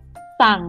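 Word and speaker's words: สั่ง: Sang. Sang. Low tone. Sang means to order.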